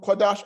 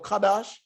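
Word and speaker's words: קדש: Kodash means to Kodash or Kadash, whichever dialect one is familiar with.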